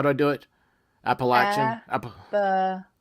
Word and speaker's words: Appalachian: do I do it Appalachian latch it's like a latch if you say Appalachian Appalachian thank you because now